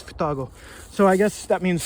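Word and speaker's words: 双子: and it's pronounced Futago.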